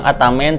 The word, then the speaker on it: Ataman: Nah, untuk bocap ini jenisnya Ataman, chambernya monoled. Ada juga orang yang bilang Atamen, tapi ya bebas lah, itu yang penting enak pengucapan.